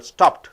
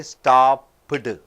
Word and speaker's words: stopped: under the single syllable stopped that's all you don't say stop pudding right ed is not prana it is pronounced as t so you have only one syllable hope you are able